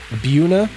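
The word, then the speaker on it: Mbuna: Um Buuna. Is that how you pronounce it? Oddball. I'm The M is silent. I'm going to guess right. Oddball. Buuna cichlids mostly are my jam.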